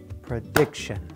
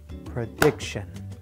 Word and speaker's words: prediction: a native speaker would I will clap on the stressed syllable note that the stressed syllable occurs before the Tio n ending prediction prediction now let's listen to